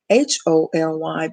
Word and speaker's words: Wholly: I always spell it because it sounds like HOLY, but it's holy, meaning whole, entirely committed.